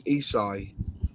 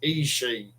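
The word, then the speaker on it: Esci: If you put it Google Translate and you speak it, it's Isai. Well, I had an Isai kit video out once, and an Italian bloke commented me, and he said it's pronounced Ishii.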